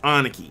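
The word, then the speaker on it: 兄貴: And Big Bro is actually pronounced Aniki.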